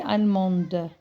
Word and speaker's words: allemande: Elle est allemande. Je prononce le D parce que j'ai mis le E.